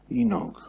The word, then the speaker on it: Enoch: Henoch. Enoch. Nearly like the thing that you eat. Enoch.